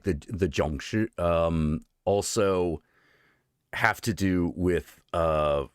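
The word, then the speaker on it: Jiangshi: I can only pronounce it in Mandarin. Zhongshi. Zhongshi. Mm-hmm. No, Zhongshi.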